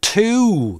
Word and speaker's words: two: В слове two двойной гласный, по длине как два коротких. И у него нет краткой формы.